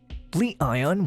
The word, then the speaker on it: Li-ion: Li-ion, when pronounced together, culminates to sound like the term lion.